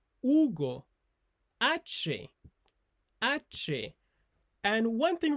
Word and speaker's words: Hugo: For example, my name is Ugo. So we don't pronounce the letter H in Spanish. Ugo ae.